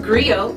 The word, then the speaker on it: griot: to share that history with you agrio it's pronounced Grio or in English AG it's a West African